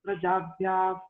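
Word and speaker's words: prajābhyaḥ: So when the visarga is followed by a pakara, as we have said earlier, the F-like pronunciation should come. You must insert the word F.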